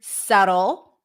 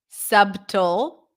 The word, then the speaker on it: subtle: words so the word subtle subtle subtle it's a there is a subtle difference between this and that pronounced with a B we do not pronounce the b write the word down